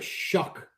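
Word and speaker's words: Shough: This is a big uh this is I gotta tell you the Saints uh Tyler Shuck.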